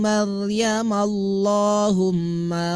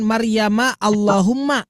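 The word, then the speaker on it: مريم اللهم: bukan bukan Maryamallahumma ya tidak ditipiskan tapi ditebalkan karena sebelumnya itu adalah fathah begitu Ya, yang ini itu dibacanya tebal. Qau Maryamallahumma rabbana anzil alaina. Seperti itu, Pak, ya. Jadi tidak boleh ditipiskan. Maryam, Ustaz. Maram Maryamallah. Ya, Maryamallah. Maryamallahumma. Tapi jangan Maryama Allahumma.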